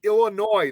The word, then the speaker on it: Illinois: It's Illinois. The S is silent.